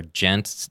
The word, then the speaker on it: djent: the new ones are gent. It's spelled DJENT, and it's Gent metal?